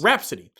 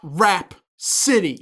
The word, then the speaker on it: Rapsittie: It is Rapsittie, correct? Yes. Rapsittie. That's not how you spell Rhapsody. Rhapsody is RH, right? Yes. RHAPSODY? I have to actually spell it out. So Rhapsody as in the musical term. Yes. It's also not Rap City, Which would be cool.